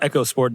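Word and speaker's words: EcoSport: Very successful vehicles, especially that last one, which is pronounced Echo Sport, despite the fact that it should be Eco Sport by all branding decisions.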